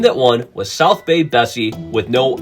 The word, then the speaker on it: Bessie: So, you have a tie-in with a local business on top of it rhyming with Nessie, the nickname for the Loch Ness Monster.